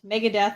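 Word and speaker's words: Megadeth: make sure i didn't mega death apparently rhymes with meredith so there you go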